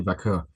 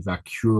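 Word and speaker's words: Vaquer: just went with Stephanie Vakur. She didn't say her name right. She called her Stephanie Vure or some or some Apparently it's making her racist apparently.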